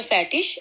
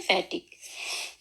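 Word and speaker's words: fertig: आगे है इ, इसकी आवाज हम लोग इश की भी होती है, शीन की भी, और बाज दफा इसको गाफ की भी आवाज निकलती है। जैसे उनके मिसाल के तौर पर फैटिश, और कई लोग इसको पढ़ते हैं फैटिक, फैटिश, फैटिक और फैटिश।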